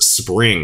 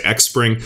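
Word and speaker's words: Xpring: in funding from ripple's spring and that's how it's pronounced i know a lot of people say xspring but it's actually spring just development on the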